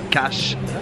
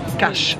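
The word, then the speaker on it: Kaş: Comme vous pouvez le voir, nous sommes arrivés à Cache, K-A-S, avec un petit truc sous le S qui se prononce Ch, Cache.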